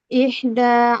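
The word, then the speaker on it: إحدى: untuk yang ida itu danya dibacanya agak panjang gitu. Iya, betul. Ihda gitu. Ihda asyrota. Jadi ya seperti itu kan jadinya seperti matobi ya. Ihda jadi panjang gitu.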